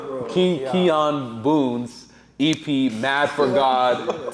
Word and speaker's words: Kijan: Keon, bro. Keon Boon's EP, Mad for God 2, because bro, like that thing tripped me out. I usually pronounce it. I apologize. Yeah, if we say Kan, we know the right the right way to